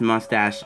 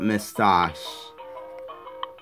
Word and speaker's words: moustache: a moustache anyway again it's pronounced moustache not miss toss so sorry about that